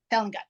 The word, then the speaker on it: Selengut: Now, see, Selengut. I'm pronouncing it the German.